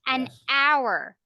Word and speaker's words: hour: an hour an air an hour an honor an honor okay silent h meaning you don't you don't you don't